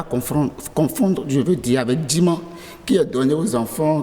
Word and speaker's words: Djiman: Djima. Djima. Djima. Oui, qui s'écrit D-J-I-M-A-N.